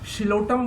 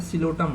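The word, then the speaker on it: Psilotum: शिलोटम बोलते हैं इसको या कुछ और बोलते हैं, ये बताओ। पहला का एग्जाम्पल क्या हो जाएगा। या तो आप क्या पी साइलेंट हो जाता है, सिलोटम इसको बोलिए।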